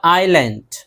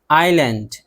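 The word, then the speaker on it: island: इन सब में देखिए एस है, एस है लेकिन एस नहीं पढ़ते हैं।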